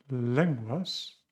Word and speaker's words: lenguas: Lenguas, suena como Gales.